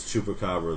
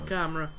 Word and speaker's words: chupacabra: But he said it wrong. Like Chumac or something. Chumacra.